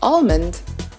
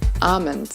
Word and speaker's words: almond: Many Americans tend to call this seed almond, when in fact the correct pronunciation is almond.